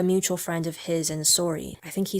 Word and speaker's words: Sori: Now I say sorry, but in the song, I pronounce it Sori, and it's kind of a double meaning. Sori as a reference to the way a lot of Canadians say sorry, and Sori as a